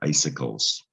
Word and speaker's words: icicles: this is the word icicles those c's make it tricky to read you know icicles root